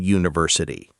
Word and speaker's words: university: I know, but think about how you say it. University. The first sound is Y, like the word you. That's a consonant sound, not a vowel sound.